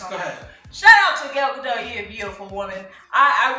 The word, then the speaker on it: Gal Gadot: It's because everybody thought it was Gadot at first, and I got it from Colliders. But it's actually Gal Gadot. So, Gal Gadot. So it's said how how it's spelled.